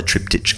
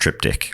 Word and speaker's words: triptych: in a lifetime opportunities you get inside the trip ditch Club that's right and uh for new listeners we do now know that it's pronounced triptych that's right it's a joke my art teacher